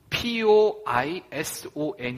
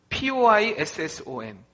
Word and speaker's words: poisson: 웨 어 있던 글씨는 poison 이 아니라 poi sso 베니어 씁니다 poisson 이건 무슨 말이냐 이건